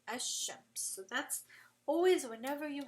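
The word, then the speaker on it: الشمس: You're not going to say al-shams, you're going to say ash-shams.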